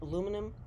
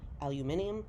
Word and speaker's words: aluminium: three thousand different shaped aluminum or as the british say aluminium sheets that are folded